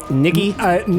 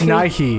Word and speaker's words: Nighy: Is that how you say it? Niggy? No, I think it's Nighy. Nighy? I'm almost positive it's Nighy.